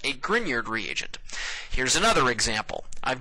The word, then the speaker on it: Grignard: And yes, that is pronounced Grineyard, not Grignard.